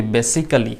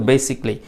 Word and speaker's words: basically: আসলে এটাকে উচ্চারণ করুন বেসিকলি, বেসিকলি, বেসিকলি মানে কি? মূলত। আমার সাথে বলুন বেসিকলি, মূলত, বেসিকলি, মূলত, বেসিকলি, মূলত। কিন্তু আমরা বলি বেসিক্যালি, এরকম করে বলবেন না, উচ্চারণটা ঠিক করতে হবে, আর বানানটাও সেই সাথে খেয়াল রাখবেন।